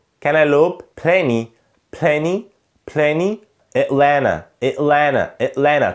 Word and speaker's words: Atlanta: plenty plenty, Atlanta Atlanta Atlanta. طبعا هنا ال N T انا مش بنطق T، فنا اتلانا، والتي الاولانيه دي طبعا